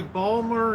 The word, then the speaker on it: Baltimore: Ray come down to Balmer and get your hair we you skip when Baltimore you skip syllables in work and use the